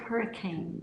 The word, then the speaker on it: Hurricane: It's spelled like hurricane, They just but call they it say Hurricane.